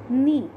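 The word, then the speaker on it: knee: नी, के N double E, नी, नी means घुटने, नी means घुटने, के एन डबल ई नी, इसको बोलते नहीं है लेकिन स्पेलिंग इससे के से स्टार्ट होती है.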